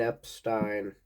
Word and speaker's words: Epstein: But George Martin and Brian Epstein, it's pronounced that way, not the other way.